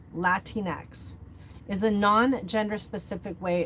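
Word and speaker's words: Latinx: Next is Latin X, pronounced Latin X, is a non-gender specific way of referring to people in Latin American descent.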